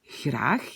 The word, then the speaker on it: graag: Alors, le mot graag, hein, en Belgique, le r est assez doux, graag. Alors qu'aux Pays-Bas, on va prononcer le même mot comme graag.